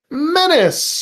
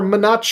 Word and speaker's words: menace: Minutia menace or manache if you pronounce it wrong.